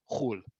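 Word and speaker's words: חול: You're going to hear this one a lot, and this one we do pronounce as khul.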